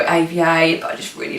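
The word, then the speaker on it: Éva: So her name is Ava, but it is spelled E-V-A and it's got a little accent on the E, just to differentiate from Eva.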